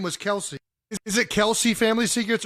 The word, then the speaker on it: Kelce: But their name is Kels. It's not Kelsey. The real pronunciation, but the father, I guess, was correcting people and saying, no, it's not Kelsey, it's Kels.